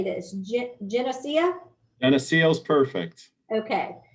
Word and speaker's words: Geneseo: suny tell me again how to say this geneseo and the seals perfect okay i have a